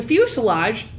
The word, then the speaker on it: fuselage: for the main course the fuselage which rhymes with blue garage is the largest part